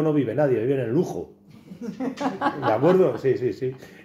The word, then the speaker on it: Lugo: Bueno, es que en Lugo no vive nadie, vive en Lujo. ¿De acuerdo? Sí. El Lugo, la G, la pronunciación no es exactamente una J, pero es muy parecida, ¿de acuerdo?